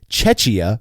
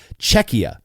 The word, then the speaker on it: Czechia: And I think the proper international pronunciation is supposed to be with a K sound like C in cold. Czechia, because it's the Czech Republic, not Chechnya.